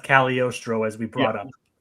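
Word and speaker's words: Cagliostro: cal it is pronounced caliorstro as we brought up it's not kaggalostro it is it is yeah that's the thing the g is like supposed to be silent but it's like you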